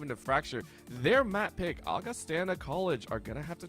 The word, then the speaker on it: Augustana: here at NECC that it is pronounced Augustana not Augustana apologies for that for